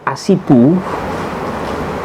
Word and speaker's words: Ashipu: Ada dokter Asipu.